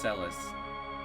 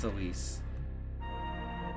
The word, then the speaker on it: Celis: And it's pronounced Celis. It's not pronounced Celise. It's short for celestial. It's not celestial.